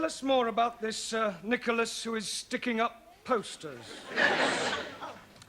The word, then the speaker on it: Nicholas: was a man called nickel ass it's not quite right no no once upon a time there was a woman called nickel h pronounced Nicholas all right once upon